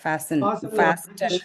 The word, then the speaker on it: fasten: fasten your seat belt அப்படி சொல்லுவாங்க. fasten சொல்ல மாட்டாங்க. அமெரிக்கன் fasten ரெண்டுமே டி இருக்காது. ஓகே, அது உள்ளதுதான்.